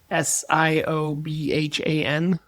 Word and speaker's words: Siobhan: Lot of Irish ones on there because there's like you know those Gaelic names and things like that like s i o b h a n.